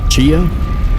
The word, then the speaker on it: chia: Chia? Yeah, chia, that's the right pronunciation. Thank you. That is exactly what I was looking for. Alright, back to swamp, grab boat, and then boat to bone mass. Chia. Chai is the tea.